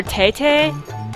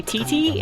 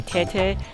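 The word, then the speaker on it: テテ: I'm gonna call her Tete. I know most people with English pronunciation say Titi, and that sounds kind of funny. So I'm gonna use the Japanese pronunciation, say Tete.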